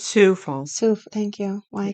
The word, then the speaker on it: Sioux Falls: It's Sioux Falls.